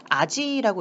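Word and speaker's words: 味: 이 맛볼 미자 같은 경우에 음독으로 읽을 땐 지금 미라고 읽겠지만 얘를 단독으로 읽게 되면은 아지라고 읽게 되죠.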